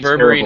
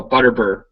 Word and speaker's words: Butterbur: Are you saying berberine herbs? No, Butterbur. Butterbur.